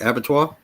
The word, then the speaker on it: Abattoir: Abattoir?